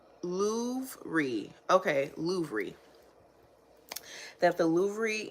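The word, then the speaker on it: Louvre: what okay let's see man Lou with the re oh so Lou okay got it louy okay louy that the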